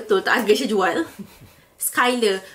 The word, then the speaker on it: Schuyler: Skyler. Kalau korang perasan, ejaan dia kan macam Skyler tapi cara sebutan dia Skyler.